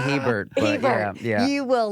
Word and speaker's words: Hebert: Do people ever pronounce it Herbert? Herbert, Sherbert, Schubert, Hebert. It's Hebert. That's how they say it in Louisiana.